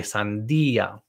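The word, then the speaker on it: sandía: there okay same with sandia i want you to um stress the i sandia okay then we have the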